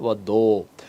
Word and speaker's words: পদ্ম: তাহলে উচ্চারণ হবে না, যদি শেষে থাকে তাহলে উচ্চারণ হবে। শুধু একবার না, দুইবার হয়েছে, পদ্ম, দুইটা দ হয়ে গেছে।